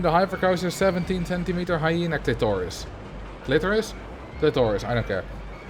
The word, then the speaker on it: clitoris: I think the stress is supposed to be on the first syllable.